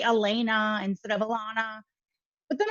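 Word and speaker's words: Allana: and she says well no how do you spell it and i said a-l-l-a-n-a she goes oh alana and i go yeah because my mom's illiterate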